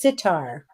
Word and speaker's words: sitar: a string instrument Eric it's sitar yes he's yeah no he's right yeah I